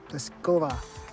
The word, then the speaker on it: Pliskova: Karolina Pliskova is the number one seeded women's tennis player, and we want that to ring throughout the broadcast.